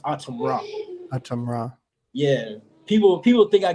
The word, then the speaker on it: ATUMRA: It's pronounced ATUMRA.